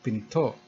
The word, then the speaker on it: pinto: which means door and pinto is pronounced here with the throat closed it is pronounced as